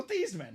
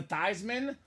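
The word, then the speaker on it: Theismann: thyman was in college his name was actually pronounced Joe th really Joe theeman wow and the Notre Dame PR staff wanted him to win the Heisman so they said let's change your name to thyman so it's thyman for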